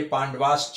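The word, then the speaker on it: पाण्डवाश्च: विसर्ग का उच्चारण ह होता है और ये च है तो विसर्ग के बाद अगर कोई च आता है इस से तो उसमें श हो जाता है। इसलिए पांडवास च हो गया है।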